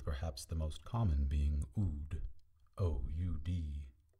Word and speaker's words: Oud: However, the Dal at the end of the word is pronounced D, as in the word end.